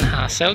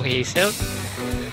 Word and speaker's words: Hasselt: pauwi na tayo nasa Hazel hassle po tayo pronunciation hassle Hindi po Hazel u ispada ni machan